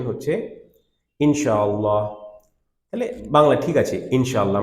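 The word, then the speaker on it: إن شاء الله: ঠিক আছে, এটা প্রপার প্রোনাউন্সিয়েশন হচ্ছে ইনশাআল্লাহ।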